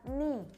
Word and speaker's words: knee: So same as wrist previously. The K in here is not pronounced. Jadi K-nya di sini nggak usah dibaca. Maka bahasa Inggris lutut itu adalah knee, bukan keni. Nggak usah kalian bilang keni. You can say it knee.